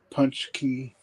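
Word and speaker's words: Pączki: It's pronounced punch key, like a donut thing that us products eat on Fat Tuesday.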